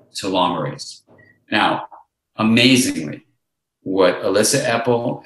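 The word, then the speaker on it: telomerase: called well telomere age which is pronounced too long race now amazingly what Elissa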